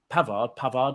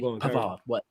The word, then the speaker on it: Pavard: Now, you look at Pavard, am I pronouncing it right? Yeah. He could do that better than Walker could instantly. Pavard.